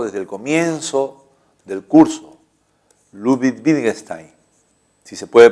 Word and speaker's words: Ludwig Wittgenstein: lógico austriaco, de un matemático austriaco, ¿no?, llamado Ludwig Wittgenstein, que ya lo hemos visto desde el comienzo del curso. Ludwig Wittgenstein, si se puede pronunciar así.